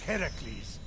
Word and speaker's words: Heracles: Phoenix, after boldly besting the Gorgon that ambushed Heracles. What are you doing there? That thing with your voice? Heracles? Yeah, that! That is how it's supposed to be pronounced.